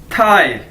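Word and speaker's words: 太: पास पहला वर्ड है थाई, TAI, थाई। Chinese के अंदर हम जानते हैं कि टी को थे के तौर पर प्रोनाउंस किया जाता है, ठीक है, थे की तरह।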